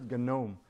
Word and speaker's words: GNOME: Because people think the garden gnome, you know, that gnome is different. This is gnome because because the gnu that is gnu it's not new. It's gnu.